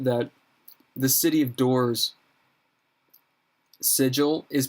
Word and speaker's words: Sigil: tracy hickman that said it's sigil it's not sigil because basically they wanted to be like everything's quirky and sigil uh so they're like no no even though it's spelled s-i-g-i-l it's not like the symbol it's a it's weird i don't care